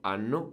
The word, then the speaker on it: hanno: Then noi abbiamo without H, voi avete without H, loro hanno with an H. But we don't hear it, and the only reason